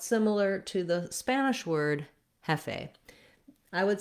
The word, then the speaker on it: jefe: So it's somewhat similar to the Spanish word jefe.